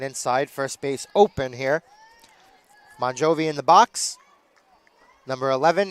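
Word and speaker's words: Mongiovi: And we'll say that the coach's kid Maria MJI again pronounced Bonjovi even though it is spelled M O N G I O V Ei.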